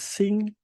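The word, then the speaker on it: 辛: Here is sing.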